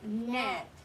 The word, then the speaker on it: gnat: There's a bright white gnat nibbling on my gnocchi. Ooh, lots of silent G, huh? Look, silent G, gnome, silent G, gnat, silent G, gnocchi.